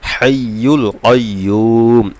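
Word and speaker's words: الحي القيوم: ইয়া ওয়াও পেশ ইউ মদের হরফ, পেশের পরে জজমলা ওয়া মদের হরফ, এখানে 1 আলিফ টান হবে, হাইয়ুল কাইয়ুম।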